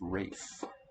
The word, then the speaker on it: Ralph: his name was penny ralph penny yeah yeah that word again theme word for the day yeah i believe in the uk the name spelt ralph is actually pronounced rafe so maybe rafe penny